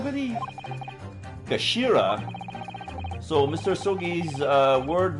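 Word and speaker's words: 頭: end of the hilt it's written as head in Japanese but it's pronounced as Kashira believe Kashira so Mr so's uh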